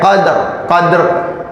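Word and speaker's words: قدر: Sama kayak qadr, dalnya bukan dikasroh tapi dalnya disukun.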